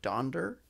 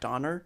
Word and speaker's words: Donder: cool is typically the reindeer's names are incorrectly pronounced specifically donder yeah cause it's gender not donner i was like i thought it was donner